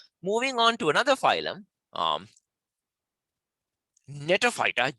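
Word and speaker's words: Gnetophyta: Moving on to another phylum, Netophyta, G is silent, Netophyta, right?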